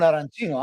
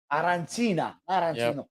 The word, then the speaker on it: arancina: so the third time he goes, arancina. Quello che è arancina, un'arancina.